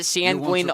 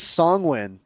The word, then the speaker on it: Sanguin: It is songwin, not songween.